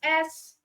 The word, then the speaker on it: schwa: And just to be clear, the schwa sound, it's spelled SCHWA.